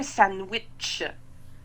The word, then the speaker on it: sandwich: Donc, au Québec, on ne prononce pas le D. Et le T en rouge, là, il ne faut pas l'écrire, mais on le prononce. Donc, c'est un sandwich.